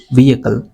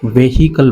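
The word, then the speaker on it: vehicle: को चलना पड़ा एज व्हीकल। अब यहाँ पर इसे काफ़ी सारे स्टूडेंट्स वेहिकल बोलते हैं, वेहिकल, जो कि रॉन्ग प्रोनाउंसिएशन है। आपने कहना है व्हीकल इस तरह से, और प्लूरल रहा तो व्हीकल्स ऑफ द रोड्स।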